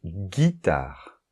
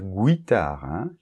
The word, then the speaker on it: guitare: ou un e donc guitare donc là attention on ne va pas dire guitare guitare ok bien alors ensuite